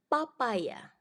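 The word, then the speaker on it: papaja: Yang pertama, papaya. Papaya. Karena J cara bacanya kan Y.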